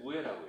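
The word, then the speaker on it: うえ: 근데 일본어로 이 윗상을 이 한자를 뜻으로 읽을 때 우에라고 해요.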